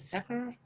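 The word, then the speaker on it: dhikr: And meditation is the foundation for all of the different orders, along with prayer and remembrance, which is known as zikr or zek. It has different pronunciations, but it's the chanting and repeating of the names of God.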